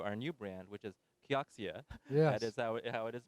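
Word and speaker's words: Kioxia: hundred years to our new brand which is kkeok SIA yes pronounced that's gonna happen on October 1st and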